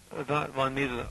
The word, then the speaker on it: Mises: with it he was uh what lwig Von mises is that how you pronounce his name well yes Von mes uh Austrian economics goes back a long way